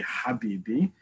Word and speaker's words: habibi: or arabic is um in the hebrew translation will be khabibi the arabic translation will be the pronunciation will be habibi it's the same exact root same exact um almost spelling it's just that in modern arabic is ha which if you know anyone who comes from a jew who comes from a muslim country or arabic speaking country you'll still hear them pronounce it as hat in modern hebrew we